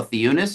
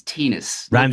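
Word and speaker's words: Theunis: It rhymes with penis.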